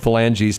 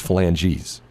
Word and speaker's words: phalanges: Third phalanges to Stan Kroenke, right?